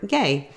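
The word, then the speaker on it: γῆ: So earth there in our verse, Matthew 5:13, is the Greek word gay. It's spelled G-H-A-Y and is used instead of world as a metaphor for the people of the world.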